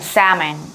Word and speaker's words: salmon: 그런데 사실은 L 사운드는 여기서 묵음입니다. 그래서 실제로 발음은 salmon 이라고 발음이 되는 거죠.